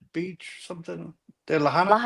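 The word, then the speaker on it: Lahaina: In Maui on Laanta Beach or something. Lahina Lahina.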